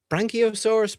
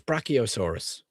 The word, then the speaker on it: Brachiosaurus: Now, can someone tell me how to pronounce that? Branchiosaurus. Brachiosaurus.